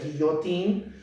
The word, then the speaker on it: Guillotin: señor de apellido Guillotin, que en francés se pronuncia guillotín.